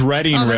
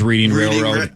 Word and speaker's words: Reading Railroad: to say it's reading railroad so it is reading railroad yeah that's that's the first clue about it being famously mispronounced I've always thought it was reading railroad I guess it is technically reading railroad no